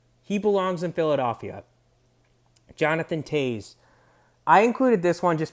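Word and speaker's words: Toews: they pronounce his name i've heard tuis toes uh t t u's twos but it's just it's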